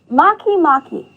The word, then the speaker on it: Makemake: This next one is one of my favorites to pronounce, so repeat after me. Makemake.